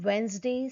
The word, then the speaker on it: Wednesday: Handsome, Wednesday, sandwich. Here you can notice silent D in the above mentioned word.